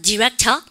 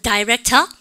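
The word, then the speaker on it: director: 여러분 발음 갖다 붙여 디렉터 미국 애들이에요. 발음 갖다 붙여 다이렉터 영국 애들이에요. 둘 다 될 수 있다는 걸 아셔야 되겠죠?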